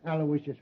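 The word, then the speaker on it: Aloysius: Terrence Alawishas Hogan.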